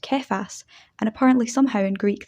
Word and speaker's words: Kephas: However, he later became known as Peter after being named so by Jesus, which in Aramaic is pronounced Kephas, and apparently somehow in Greek this becomes Petros.